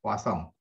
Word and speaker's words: Poisson: Ya, itu bahasa Prancis bacanya Poisson.